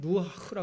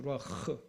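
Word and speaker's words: רוח: 그걸 루아흐라고 합니다. 루아흐. 히브리 발음하려면 콧소리를 많이 내요.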